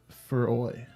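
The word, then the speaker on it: Fowey: Fowie is Cornish, like me, and it said for oi. For oi.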